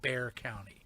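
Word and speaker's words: Bexar: San Antonio, Texas, is in a place called Bear County. B- a h county spel pronounced bear.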